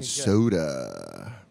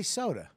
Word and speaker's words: Soder: You guys can't say my last name properly. We say soda. Yeah, it's soda.